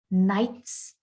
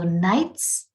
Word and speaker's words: knights: be pronounced queens fairies knights gnomes k in the word knights is silent g in the word gnomes is silent so nights and gnomes so in